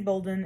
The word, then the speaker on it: Bolden: my name is bolden and it's just pronounced like if it was spelled b-o-l-d-e-n my office is h-221